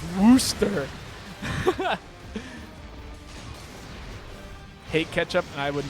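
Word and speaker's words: Worcester: no one is guessing warchest is pronounced Wooster hate ketchup and I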